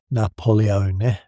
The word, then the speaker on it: Napoleone: He pronounced his own name in an Italian way the French boys could not produce, Napoleone, which they shortened in